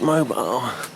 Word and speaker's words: Mobile: It's not Mono, it's Mobile.